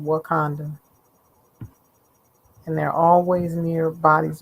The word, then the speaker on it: Wauconda: So as you can see, this Wakanda is spelled Wauconda. They have various spellings, but they all are pronounced the same, Wakanda.